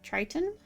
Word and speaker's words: Triton: So this little one right here, I was told it's pronounced Triton, like Triton.